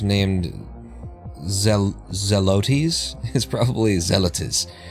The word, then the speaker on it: Zelotes: is probably zealatus is probably the best way that I could say it so that you could spell it.